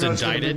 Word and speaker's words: indicted: It's pronounced indicted, but it has a C in it.